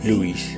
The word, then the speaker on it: Loïs: Si on veut entendre OI séparément, il faut mettre un tréma. Par exemple, dans le nom Loïs.